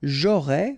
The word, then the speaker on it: aurais: J'aurais, final S not pronounced, tu aurais, same thing here.